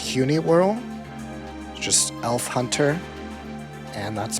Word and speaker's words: Hunewearl: I think it's pronounced Huni World.